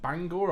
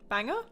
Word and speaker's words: Bangor: Is it Bangor or Banganger? Banger. Banger. Bangor. Banger. Bang. It's whatever the one we have in Wales is. It's that version. It's But it's American. They change how everything's pronounced.